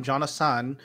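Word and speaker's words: Jonahsahn: all over the internet i'm jon assan which is the japanese pronunciation of my name says j o n a h s a h n jonah jonathan okay tick tock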